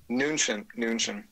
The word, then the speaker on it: Mnuchin: Mnuchin. There's no M in there, huh? It's just Mnuchin?